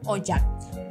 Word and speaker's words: Ocak: itu sama sama one Ocak itu bacanya jadi ojak ya ingat ya c itu bacanya jadi J jadi ojak nah kita